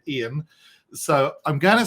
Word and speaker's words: Ian: name wrong many people many Americans get my name wrong as well and say I am instead of Ian so I'm gonna say